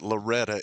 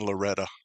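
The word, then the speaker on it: Loretto: They pronounce it Loretta in Loretta.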